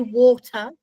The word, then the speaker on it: water: water with a t i Am British we say water and we say animated we pronounce our te's I know because actually